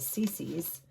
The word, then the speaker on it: Seesee: It's called Cece's, and it's spelled S-E-E-S-E-E.